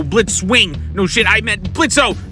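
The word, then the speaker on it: Blitzø: No shit, I meant Blitzo. No, wait, the O is silent.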